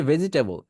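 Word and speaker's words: vegetable: no problem এরপর আসি ভেজিটেবল মনে রাখবেন এটা ভেজিটেবল না জি এর পরে যে ইটা আছে এটা কেটে দিতে হবে ভেজিটেবল ভেজিটেবল টেবল বলবেন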